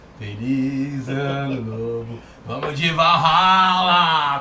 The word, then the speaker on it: Valhalla: Vamos de Valhalla! Como é que se pronuncia? Borrala. Valhalla, Valhalla, Borrala.